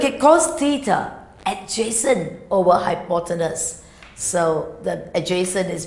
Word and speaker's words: hypotenuse: the 90 degrees what do you call that pronounce it right not people potables what I call it hypotenuse yes that's the longest side of the triangle